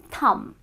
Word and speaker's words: thumb: m b is not thumb it is thumb okay so that's how